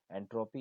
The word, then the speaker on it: entropy: As for pronunciation, entropy is usually stressed on its first syllable, while enthalpy is usually stressed on the second.